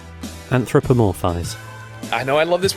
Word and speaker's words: anthropomorphize: not the enterprise anthropomorphized i know i love this word like i'm anthropomorphous i'm like you say you love the word can you say it anthropomorphise did you add a syllable there yeah anthropomorphize anthropomorphize anthropomorphize